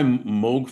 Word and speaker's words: Moog: Um your career started at it's pronounced Moog, right? Moog. Yes, you said it correctly.